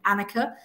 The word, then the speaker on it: Anicca: pronounce the agency name so the agency is spelled a n i c c a dot co dot uk annika it's nothing to do